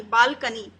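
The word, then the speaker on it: balcony: Third है BAL, बाल, और CONY, कोनी नहीं बोलेंगे, इसे बोलेंगे कनी, बालकनी।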